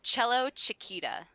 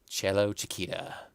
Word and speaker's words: Cellochicita: call you cello but how is it actually pronounced it's cello Chiquita cello Chiquita yeah but everyone just calls me cello or